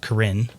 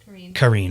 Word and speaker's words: Karine: one we have is from Corinne and she Karine I'm sorry I always say it wrong she's gonna hate me